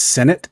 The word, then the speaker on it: Sinnott: Amir says, I think it's pronounced Sinnott, like part of the government. I don't know. Sinnott, Ben Sinnott, Sinnott.